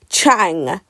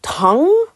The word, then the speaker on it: Tang: So, I keep saying Chang. Chang when actually it's tongue.